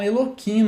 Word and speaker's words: Elohim: Atualmente os judeus estão tendo essa regra de proteção à pronúncia até do nome Elohim. Eles falam Eloquim. Verdade isso, tá? Eles falam Eloquim para não falar Elohim, tá?